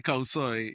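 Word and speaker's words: khao soi: Khao Kosoy. soy, khao soy.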